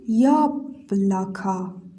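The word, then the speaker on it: яблоко: یا هم در صورتی که دارای تکیه باشه صدای یا خودش رو میده یا اما اگر بدون تکیه باشه صدای ای نرم میده مثال می‌زنیم توی کلمه یا بلاکا یا اینجا چون دارای تکیه هست صدای خودش رو میده یا اما او اینجا که تکیه نداره صدای آ میده اینجا هم که تکیه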